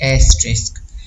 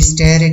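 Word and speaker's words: asterisk: ठीक है, डिफरेंट तरीक़ों से इसकी प्रोनाउंसिएशन आप कर सकते हैं, लेकिन असल में है ये एस्ट्रिस्क। कोई स्टेरिक कहते हैं, कोई क्या,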